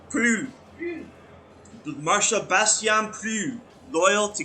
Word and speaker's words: Proulx: From the log of Marcia Bastien Okay, does anyone know how you pronounce that? Proulx. Yeah, Prue.